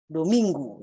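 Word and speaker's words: domingo: ini disebut domain Hai Nah dominggu ya bacanya dominggu Ya yang kemudian dialihkan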